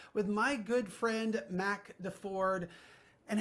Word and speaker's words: Deford: my good friend Mac Deford. And how do you remember how to pronounce his last name? It's not the Chevy, it's the Ford, you know, it's like that's how you remember.